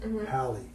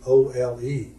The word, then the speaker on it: haole: Now we pronounce it in English today as like Howlee or Ley, howley. But in ancient Hawaiian, the word was actually Haole, haole, or haole, right?